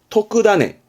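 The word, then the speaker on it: 特種: 토크다네. 종자의 훈독은 타네라 그래서 어떠한 씨앗을 말하기도 하는 종자죠. 그 타네에서 특종을 말할 때는 토크다네로 온다는 거.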